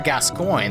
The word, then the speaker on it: Gascoigne: Wow, I've never actually pronounced that correctly before. That was weird. The Father Gascoigne, there we go, incorrect, of this game, where